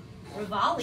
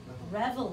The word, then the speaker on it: reveille: Revolve is kind rock. Of surf, man. Shed rock. What? Yeah. Did I say it wrong? Yeah, it's okay. How do you say it? Reveille. Yeah. It's French.